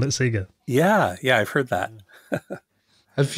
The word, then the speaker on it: Sega: Yeah, my school, we used to say Sega instead of Sega, until the Hedgehog came around. Yeah, which I think they still do in Australia, they still call it Sega.